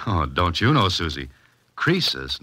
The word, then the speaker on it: Croesus: Crisis was a rich king. Oh, don't you know, Susie? Croesus, not Crisis, was a rich king.